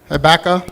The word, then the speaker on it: Habakkuk: How do you pronounce that? Habakkuk.